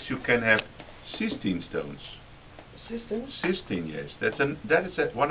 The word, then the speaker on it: cystine: Cystine? Cystine, yes. That is one of the hereditary stones, but they are very rare. How do you pronounce it? Cystine? Cystine, yes, with a Okay. C-Y-S-T-I-N-E.